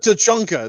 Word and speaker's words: Tsushima: It's Tsu, T-S. Tsu. Yeah. It's a silent T, right? It's like no, it's not silent. You have to pronounce the T with the C, with the S. Yeah. Okay. Tsu, like your Ghost of Tsushima.